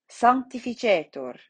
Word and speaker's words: sanctificetur: So we look to the end, our penultimate vowel, the A, che, right? And that is long. So that means that it gets the accent. Sanctificetur on the penultimate syllable.